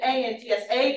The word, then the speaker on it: Antsa: So it is written A-N-T-S-A, but the final A is silent. So you call me Antsa.